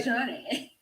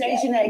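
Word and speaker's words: Dejanae: Dejani. That's good. It's Dejanay because it's got A-E on the end.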